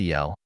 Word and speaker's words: AL: Al pronounced Eel is a Calaldian word meaning among other things God or the great one.